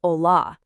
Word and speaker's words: hola: When you see it at the start of a word, you just don't say it. It's a ghost. That's why hello is pronounced hola, not hola.